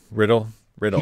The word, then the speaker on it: Riddell: I keep saying Riddell. Isn't Yeah, it but Riddle? no, he says it Riddle. Well, he's wrong. He says his own name wrong.